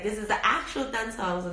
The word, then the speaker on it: Dan Cong: oolong called Dan Cong, D-A-N-C-O-N-G. Sometimes I hear people pronounce it as Dan Cong with the C as a K, but it's actually pronounced, the C pronounces it S. So it's Dan Cong.